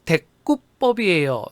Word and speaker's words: 대구법: 자, 표준 발음은 데구법이에요. 된 소리가 되고 있죠. 사이소리 현상입니다.